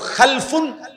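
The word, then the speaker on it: خَلْف: একটা হলো খালফুন, আর একটা হলো খালাফুন। একই শব্দ, শুধু উচ্চারণের মধ্যে একটু ভিন্নতা। মাঝখানে একটা লাম আছে, এই লামটার মধ্যে যদি সাকিন হয় তাহলে হলো খালফুন, আর যদি লামের মধ্যে জবর হয় তাহলে হলো খালাফুন।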